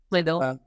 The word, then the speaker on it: Swindle: Is it Swindle or Swindell? Swindle.